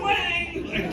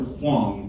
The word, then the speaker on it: Huang: come and find out I was mispronouncing his name um because I I showed up I was like so happy for that consultation like I'm here to see Dr Wang you know apparently I wasn't the first person that pronounced that like his receptionist was not having it she was like it's Dr Huang take a seat and